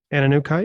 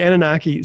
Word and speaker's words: Anunnaki: i hear that that the ananukai is that how you pronounce it okay i'll get it straight one of these days so the anunnaki so the anunnaki were